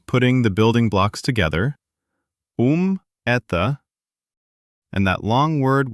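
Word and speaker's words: ум: In Russian, it's um. Remember how to correctly pronounce the U? Yes, lips like a narrow tube pushing forward.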